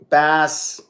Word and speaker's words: Baz: Bass, not Baz.